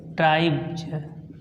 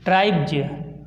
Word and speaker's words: tribes: तो BE आया है यहाँ पे, B के बाद यस आया है, इसलिए हम यहाँ पे उच्चारण करेंगे ट्राइब्ज। देख लीजिए ट्राइब्ज।